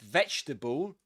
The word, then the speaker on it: vegetable: In English when you when you see these at the end of a word you don't see you don't say table. You see this in English, but you don't say table. That's not the word. Okay? Something else. It's actually a suffix. The the suffix able this one. So you don't say um able like vegetable. You don't say that. This is a bull.